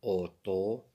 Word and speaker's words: auto: A U se prononce O. Une auto.